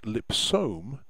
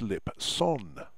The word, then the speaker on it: Lipson: It isn't LH, it's LS, and it isn't Lipsome, it's Lipson.